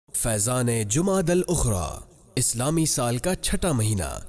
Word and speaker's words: جمادی الاخری: سے اس مہینے کا درست نام اور صحیح تلفظ جمادی الاخری ہے۔ جمادی الاخری کے نوافل، جو شخص 12